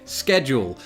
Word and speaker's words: schedule: Schedule.